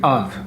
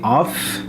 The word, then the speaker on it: of: yeah this word here the F is pronounced as a V as a v sound so I say of